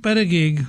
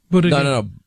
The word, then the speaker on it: Buttigieg: But I think Buttigieg, if I've said that right. Buttigieg. Buttigieg.